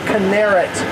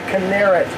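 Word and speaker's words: Kinneret: china wrath or as it's called in hebrew canarits that's what you'll hear it pronounced later today the canarit and and the china wrath or canarit means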